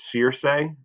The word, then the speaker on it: Circe: This is Circe, is how you say this one right here.